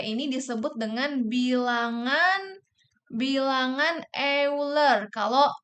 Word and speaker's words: Euler: disebut dengan bilangan bilangan euler kalau tulisan bahasa e tulisannya kayak gini ya tapi kalau misalkan dalam bahasa Inggris tuh dibacanya weller pokoknya kayak giniilah tulisannya ya